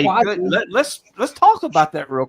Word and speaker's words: Kuasi: But my name is Quasi, like Kuasi. Like, at least say it right when you're addressing me.